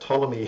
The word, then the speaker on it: Ptolemy: Ptolemy is spelt Tolemy, and then it's .com.